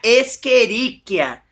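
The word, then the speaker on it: Escherichia: A gente aqui temeríia, só que a gente pronuncia esqueríquia, cole.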